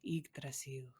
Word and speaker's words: Yggdrasil: And I mean, I feel like we are also pronouncing it wrong because we're not pronouncing it like in Old Norse, like Yggdrasil, Yggdrasil.